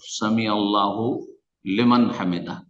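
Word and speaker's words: سمع الله لمن حمده: ডাকা] এটাকে যখন উচ্চারণ করবেন একজন মানুষ যখন উচ্চারণ করছেন সামি আল্লাহু লেমান হামিদা তো এইভাবেই উচ্চারণ এখন কেউ যদি এটাকে হুকে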